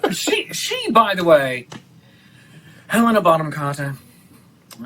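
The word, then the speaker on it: Helena Bonham Carter: stop pronouncing the h stop pronouncing the age and her name bottom oh okay i was going to say elena that's really weird ellen shaw helena bottom carter and yes that would be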